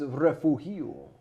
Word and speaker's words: Refugio: Refugio. Or for the folks down in the coastal bend, southern end of Texas, Refugio.